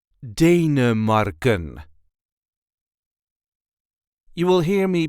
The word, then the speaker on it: Denemarken: There is a light emphasis on the first part. Denemarken.